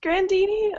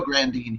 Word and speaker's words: Grandine: I'm like, is it still pronounced Grandini or? It was never pronounced Grandini. You say the name Grandini, but it looks like it's spelled Grandine. So we're just gonna go Grandine here.